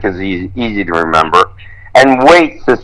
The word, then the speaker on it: Waites: And Waits is spelled W-A-I-T-E-S.